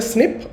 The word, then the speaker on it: SNP: it is called a snip. Okay. So it is pronounced as snip and written as SNP.